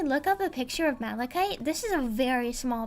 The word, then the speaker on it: malachite: This is Malachite. Malikite. It's pronounced Malikite, but yeah.